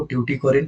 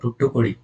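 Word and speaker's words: Thoothukudi: eastern coast में देखो ट्यूटी कोरिन और टुटुकोड़ी ये तमिल प्रोनाउंसिएशन है इसकी टुटुकोड़ी जब अंग्रेज आए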